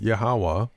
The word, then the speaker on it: YHWH: is right he wrote unless yhwh and that is pronounced yahawah miraculously intervenes based on